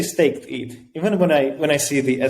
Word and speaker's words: stETH: I just say staked ETH.